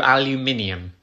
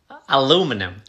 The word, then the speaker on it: aluminium: aluminium it's a metal aluminum no aluminium aluminum you're losing a syllable aluminium aluminum